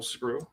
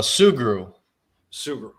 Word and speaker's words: Sugrue: show here and without further delay sergeant screw good evening hey how you doing i'm blessed thank you for asking and am i pronouncing your last name correctly uh sugru sugru okay perfect so how's everything going good just